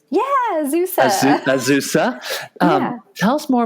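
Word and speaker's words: Azusa: designer over at ausa Pacific University did I pronounce that correctly yeah ausa ausa um tell us more about the types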